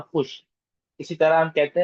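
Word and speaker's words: خوش: In this word, the letter wow is silent.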